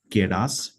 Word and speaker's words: Keras: उसके ऊपर है केरास। ठीक है, तो प्रोनाउंसिएशन सबका अलग अलग हो सकता है, बट केरास, केरास क्या है?